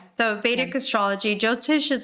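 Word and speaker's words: Jyotish: and then get into the um jotish is that how you say it yes yes the viic astrology jotish is like the the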